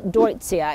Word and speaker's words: Deutzia: one of my favorite it is ditzia or some people pronounce it deutscia if any of you pronounce it differently please let me know this is what